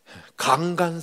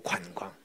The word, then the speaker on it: 관광: 근데 얘는 강간 산업을 발전시켜야 한다.이 경상들 사람들이 관자 발음을 못 해. 강간 사랑 애들이 다 자빠지는 거야. 신을 상어야 강간이 아니고 관광. 경제를 못 해.